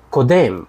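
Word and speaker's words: קודם: слово в настоящем времени Кодем с ударением на второй слог который переводится как предшествует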